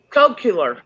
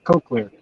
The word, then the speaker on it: Cochlear: pronounce that, Randy? Cochlear. Cochlear.